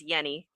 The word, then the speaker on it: Jenny: Apparently from what he says um it's pronounced as yenni.